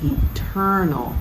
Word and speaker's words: eternal: last s it is eternal with emphasis on the second syllable verse 31 and 32